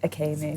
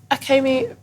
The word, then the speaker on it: Akemi: right yeah yeah um my name said okay me but evan says it differently but that's fine it is felt like maybe it could be a chemist yeah yeah you just pronounced e like an a kind of thing